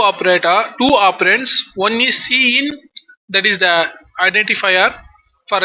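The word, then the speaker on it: cin: the predefined identifier C in so C in pronounced as C in so this is the name of identifier so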